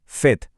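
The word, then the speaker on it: fête: इसे बोलेंगे एत्र और फेथ यानी पार्टी। इसका उच्चारण है फेथ।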